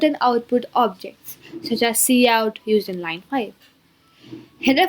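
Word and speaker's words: cout: executed line 5 is c out which is pronounced as c out is an object used together with the insertion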